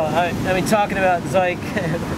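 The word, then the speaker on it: Zhik: I mean talking about Ze it's pronounced like Mike uh obviously I'm person name Mike but uh they've been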